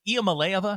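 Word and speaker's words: Iamaleava: Is it Malaya?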